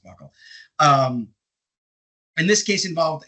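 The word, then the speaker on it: buccal: It's just genetic testing done with a buckle swab, as they call it, BC A, buckle swab. I used to always think it was something other than buckle, but it's apparently pronounced buckle.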